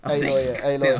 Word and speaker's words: Aloy: Aloy. It says Aloy. Aloy. Yeah. That's how it's pronounced.